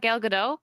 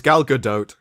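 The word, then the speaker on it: Gal Gadot: have standers it is also galgadot it's not galado I thought it was pronounced galado it's gal good doe oh well I been pronouncing that's the way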